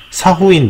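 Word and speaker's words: Sa Huỳnh: 그다음에 사후인 문화, 사황을 사후인이라고 읽는 거군요.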